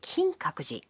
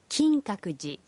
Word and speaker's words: Kinkaku-ji: want to go to kinkakuji a temple in kyoto the pronunciation is kinkakuji kinkakuji i will go is